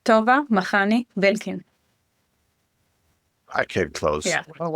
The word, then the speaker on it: Tova Makhani-Belkin: And from Ireland, I think today is Tova Makhani-Belkin. Yeah. Did I do it somehow? Close. Close. All right. Just tell us, please, how is your name correctly pronounced? My name is Tova Makhani-Belkin.